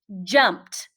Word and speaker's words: jumped: So sometimes that ed can sound like a T.